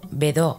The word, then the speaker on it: Bedaux: desarrolla en su sistema el método bedaux pronunciado vedó en francés es un sistema que